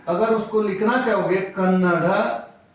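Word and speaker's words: ಕನ್ನಡ: तो ऐसे ही लिखोगे अगर ल दोगे ना इसको ये कन्नडा हो जाएगा डा नहीं चाहिए हमको हमको चाहिए कन्नड़ कन्नड़ चाहिए तो मैं रोमन के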